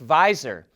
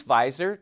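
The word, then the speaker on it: Viizr: launched a new service called v i i zr which we think is pronounced visor but it allows trades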